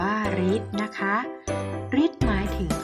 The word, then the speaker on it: ฤทธิ์: กับ สระ ก็ เช่น คำ ว่า ฤทธิ์ อ่าน ว่า ฤทธิ์ นะ คะ ฤทธิ์ หมาย